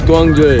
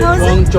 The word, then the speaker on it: Guangzhou: It's Guangzhou. Guangzhou.